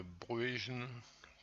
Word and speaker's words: Bruijn: Il s'agit de suite de Bruijn, prononcée à la néerlandaise.